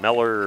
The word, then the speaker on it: Miller: sure about that wasn't like Mohler or Miller or something it is Miller according to the uh one of the coaches in the dugout for the game they're very hospitable and give you some pronunciations then let me